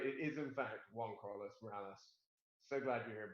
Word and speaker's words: Juan-Carlos: you hear say right it is in fact one Carlos Morales so glad you here buddy yeah you